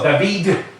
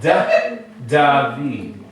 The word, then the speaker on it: David: You don't go David, right? You go David. It almost sounds like you're making a TH out of the D.